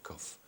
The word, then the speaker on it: cough: It's spelled in a funny way. I think it's a little difficult. Yes, because it sounds with the F instead of G H.